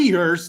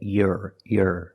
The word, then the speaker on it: year: for free that's right it's not correct to say you're you're it's year with a long e sound like green beans here one year two years link the sound from the e to the r e here it sounds like ear and here and beer